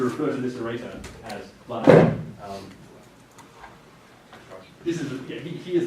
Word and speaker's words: Vladimir: He does prefer his name pronounced Vladimir, as it rhymes with Redeemer.